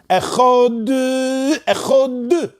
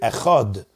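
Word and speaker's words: אחד: For example, some people do echod. That's not how you read the dalet. The dalet doesn't have a dagish. The dalet is supposed to read echod, not echod.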